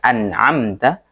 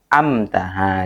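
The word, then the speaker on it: أنعمت: Seperti yang kemarin surat Al-Fatihah ya, ayat yang ke-7 biasanya bacanya kebalik-balik kan, dari harusnya an'amta, ada yang amta. Dibalik. Nah, itu salah juga ya.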